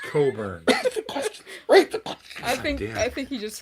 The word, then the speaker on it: Cockburn: It's pronounced Coburn.